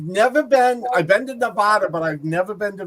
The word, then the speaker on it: Nevada: that you're not from Nevada they are the weirdest it's it's not n Nevada it's Nevada you know oh I've always